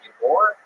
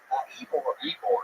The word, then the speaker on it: Ybor: Ybor? Ybor. Yeah, Ybor.